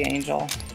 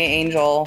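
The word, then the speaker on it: Anghel: name a-n-g-h-e-l a oh it'd probably just be Angel okay that's what I thought yeah I think it's just gonna be Angel because there's that's not a Japanese word okay that's what I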